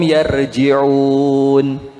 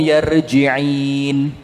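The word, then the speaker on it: يرجعون: Ketika dia membaca ayat la'allahum yarji'un, kesilap lidahnya, dibilang apa? La'allahum yarji'in, bukan yarji'un tapi yarji'in.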